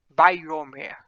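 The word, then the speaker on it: ויאמר: Mas essa palavra aqui, ela se pronuncia Vayomer, tá? Essa primeira palavrinha aqui.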